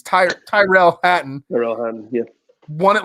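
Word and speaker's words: Tyrrell Hatton: I always want to say Tyler. It's Tyrell Hatton.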